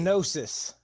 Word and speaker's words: Gnosis: Gnosis. Gnosis. Oh, Gnosis. The G is silent.